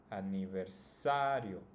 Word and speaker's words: aniversario: In this case, it's always going to be the second to last. So if we count starting from the end, this would be the first syllable, yo, and the second one would be sa. So that's the one that should be pronounced the strongest.